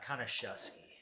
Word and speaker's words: Konuszewski: Konuszewski. Shusky. Like you're shusking corn.